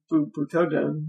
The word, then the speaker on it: Butoden: Butoden. Oh, it is pronounced Butoden? Yeah. It doesn't sound right. Butoden. Oh, fine. It's a long O sound, technically.